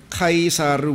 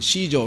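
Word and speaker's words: Caesar: 너희 왕을 십자가에 못 박으랴 하매 수제사장들이 대답하되 카이사르 외에는, 시저, 로마의 황제죠, 시저죠, 카이사르 외에는 우리에게 왕이 없나이다 하니라.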